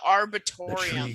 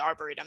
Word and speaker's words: arboretum: welcome center over there so we're saying that right our broom logan actually taught me how to say it i'm like it's the the tree pen i called it the arbitorium okay let's keep our